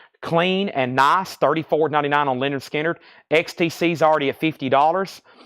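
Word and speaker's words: Lynyrd Skynyrd: up this bid let's finish up this B Leonard skinnard pronounced Leonard skinnard nice MCA pressing clean and nice $34.99 on Leonard skinnard XTC is already at $50 we have artha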